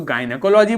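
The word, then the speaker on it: gynecology: ध्यान दीजिए, जब ये गाइनो जी वर्ड शुरुआत में आएगा तो गायनेकोलॉजी बोलेंगे, और यही जी वर्ड जब बीच में आता है तो मिसोजिनिस्ट बोल देते हैं।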